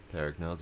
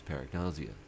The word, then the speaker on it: Paragnosia: Ah, paragnause is pronounced as paragnazia.